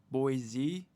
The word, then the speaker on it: Boise: Micron's new fabs in Boise start actually producing. Good job, Idaho. Potatoes and RAM. With more New Yorker on 2030. Admitted at One Pier. Just found out it's pronounced Boise.